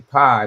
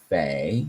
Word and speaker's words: Phi: And again, I would always say pi, but then you look at it as pronounced Fee.